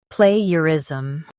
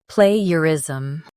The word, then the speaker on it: plagiarism: Plagiarism. Both US and UK have the same pronunciation of this word. Plagiarism. Now read the syllables shown on the screen naturally. Play. Plagiarism. Stress play and keep ger light.